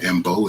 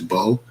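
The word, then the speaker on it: Mbow: The M is silent. It's not Mbo, it's Bo.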